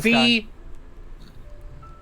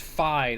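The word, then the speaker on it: Fi: Shut up, It's a Fee! I don't care if your name is supposed to be pronounced Phi.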